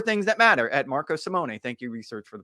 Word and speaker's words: Simone: that matter at Marco Simone thank you research for the proper pronunciations I'm looking at it right now Simone not nay knee Simone all right uh Marco Simoni thank you uh of